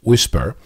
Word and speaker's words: WSPR: First of all, WSPR, pronounced whisper, is a way of encoding information and transmitting it across the spectrum.